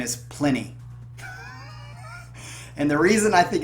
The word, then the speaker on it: Plini: So I'm just going to take a stab at it and say his name is Plini. Plini, like plenty, but Plini.